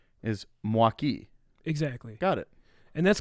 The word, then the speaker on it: Milwaukee: but the way that it's supposed to be pronounced is mwaki exactly got it and that's going to conclude